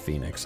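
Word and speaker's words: Phenix City: that where the Dukes there's no o so maybe it is pronounced Phoenix I don't know I yeah or panix but it looks like F I think it's there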